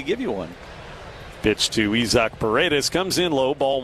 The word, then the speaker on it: Isaac: Spelled like the English word Isaac. As in Isaac Collins. Spelled the same way, but this guy's Isaac.